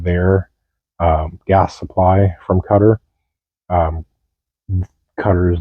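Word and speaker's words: Qatar: one I have is cutter or quar however you pronounce I pronounce it cutter uh quote if the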